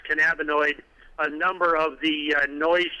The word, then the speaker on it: cannabinoid: By the way, I just wanted to point out the ignorance of that state official when he was mispronouncing cannabinoid. He called it cannaboid.